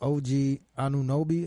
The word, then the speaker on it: OG Anunoby: You seen the Raptors when dude OG Anunoby, that's how you pronounce that nigga name, that hit that buzzer beater?